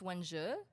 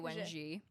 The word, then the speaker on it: Wenji: I think we said it's Wenji. Yes. When I used to say Je. Wenji.